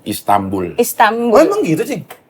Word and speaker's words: Istanbul: Nun mati ketemu Ba. Ba itu iklap. Jadi bacanya M, Istanbul.